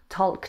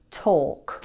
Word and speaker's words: talk: First, we had the word talk. Hi. I can't really talk right now. Talk has a silent L. Say it with me. Talk. Talk.